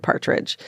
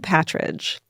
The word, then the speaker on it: Patridge: I would have said Partridge. And then I saw that I saw it in the Vanity Fair article. It's spelled Patridge.